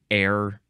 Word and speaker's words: ere: one is e e and you pronounce it air e re first form